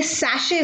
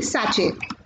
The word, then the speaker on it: sachet: दो रुपए के पैकेट्स होते हैं वो आपके सैशे होते हैं, ना ही साचे।